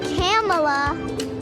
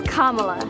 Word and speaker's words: Kamala: proper pronunciation it's not camela it's not Cala it's not camela it's Kamala comma Harris see how